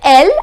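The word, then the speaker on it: elle: either he or it then L as in English l the meaning is she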